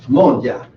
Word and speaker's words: moja: How do you pronounce the moja?